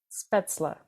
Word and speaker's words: Spätzle: how we learned to pronounce it spla right speta which I always pronounced wrong apparently speta is like if you